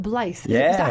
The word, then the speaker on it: Blyth: Now that wonderful accent you're from, is it a little place called Blythe? Yeah, is that how you say it? It's Blythe, and so yeah, it's pronounced how you want. Blythe.